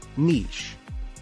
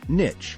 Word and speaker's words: niche: pronunciation is asthma next up is niche some people pronounce it as Niche but the correct way to say it is niche moving on to chaos